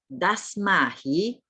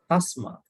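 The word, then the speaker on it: tasmā: Dasmahi. Not Dasma. It is Tasma. T. Tasma. Tasma.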